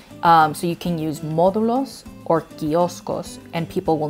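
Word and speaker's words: módulos: to ask for these testing sites they're called modulos think modules modulos but you can also say kioskos like kiosks right um so you can use modulos or kioskos and people will know what you're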